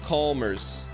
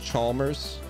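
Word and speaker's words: Mario Chalmers: get some Jojo spam and chat and Mario comers Danis pronounced Chalmers I got to think we're probably five packs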